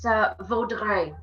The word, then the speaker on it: Vaudreuil: Okay, so it's Vaudreuil. I'm gonna spell it.